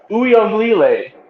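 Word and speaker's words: Uiagalelei: I believe it's Uyonglele.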